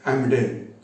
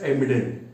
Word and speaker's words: Emden: They sent a warship that is called as Amden. Though I am pronouncing Amden, in their language they pronounce Emden. Spelling starts with E.